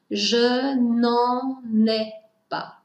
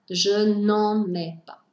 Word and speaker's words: je n'en ai pas: Avoir besoin de Je n'en ai pas besoin Attention à la prononciation qui est parfois un peu compliquée avec le "en + la négation" vous devez enchaîner les mots Je n'en n'ai pas. Je n'en n'ai pas.